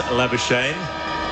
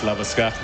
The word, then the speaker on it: Labuschagne: Marnus Labuschagne, a.k.a. Marnus Labuschagne, as they're going with the proper Afrikaans pronunciation in Pakistan.